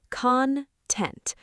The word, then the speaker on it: content: Make sure you stress the second syllable, content.